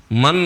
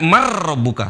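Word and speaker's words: مَنْ رَبُّكَ: Man rabbuka. Gak boleh dibaca man, tapi dibaca marrabbuka. Seolah-olah nun gak ada. Dibaca marrabbuka. Cara bacanya adalah marrabbuka. Marrabbuka. Marrabbuka. Nunnya lebur.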